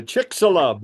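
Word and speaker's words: Chicxulub: right this is uh the um let's say chick salub I got that pronunciation down the blast that happened down at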